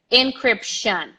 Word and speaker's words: encryption: the wrong pronunciation encryption tion tion it's not Shan Shan there is like an almost an A and an N very close at the end encryption encryption encryption encryption everybody